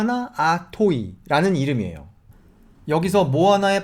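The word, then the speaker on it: moana: 이름인데요 폐 모아 낳아 토의 라는 이름이에요 여기서 뭐 하나에 발음을 한번 제대로 된걸 들어보시죠 뭐 하나 뭐 하나 이겁니다 그 앞에 테 모아 나가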